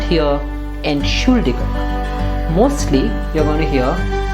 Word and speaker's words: Entschuldigung: All of you know that the pronunciation is Entschuldigung, correct? Ent is a prefix that's not separable, that's why we don't stress it, and the stress goes on should.